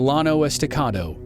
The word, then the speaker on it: Llano Estacado: of the Comanches called the Llano Estacado that's the American pronunciation of the Spanish name that means the